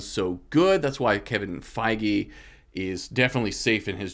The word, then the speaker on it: Feige: It's Feige.